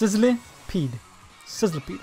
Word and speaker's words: Sizzlipede: to see the name again so I can pronounce it. Sizzlipede. I kept on putting the I before the L. But it's Sizzlipede.